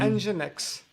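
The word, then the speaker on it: nginx: you be aache and how do you pronounce the one is it NX um engine X I see engine X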